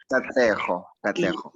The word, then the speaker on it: Katlego: Katlego. Oh my goodness, I can't pronounce it correct. Katlego. Yes. It's Katlego.